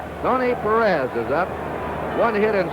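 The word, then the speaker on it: Pérez: of that cincinnati lineup we anglicize his name it's the way they call it in cincinnati his hometown and most of the announcers perez perez is the spanish pronunciation and we get some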